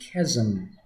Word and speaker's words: chasm: Spelled chasm but pronounced chasm.